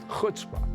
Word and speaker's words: chutzpah: Chutzpah.